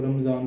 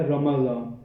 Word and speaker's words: رمضان: ہے۔ عام طور پہ ہم لوگ اس کو رمضان کہہ دیتے ہیں، جس میں ہم را کے اوپر زبر اور میم کو ہم ساکن کر دیتے ہیں، رمضان۔ لیکن جو اس کا صحیح تلفظ ہے وہ ہے رمضان، را کے اوپر بھی زبر ہے اور میم کے اوپر